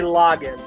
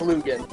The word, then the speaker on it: Lagann: from tengen toppa gurren i did not say log in that's his Lucan that's log in no that's loogan trust me I've lists trust me it's spelled Luca I've listened to it in Japanese it's tengo toppa gurren lagann and I'd read it in English it's no good this is what happens when you're uncultured back me up lunar that says loogan doesn't it someone back